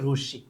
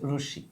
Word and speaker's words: রশ্মি: এটা অনেকে আমরা রশ্মি উচ্চারণ করি, রশ্মি না, রশ্মি। হ্যাঁ, ওই যে অনেকে গ্রীষ্ম বলি না, গ্রীষ্ম না, এটা কিন্তু আসলে গ্রীষ্ম। এটা মানে এই শটা ডাবল উচ্চারণ হবে, ঠিক আছে, রশ্মি।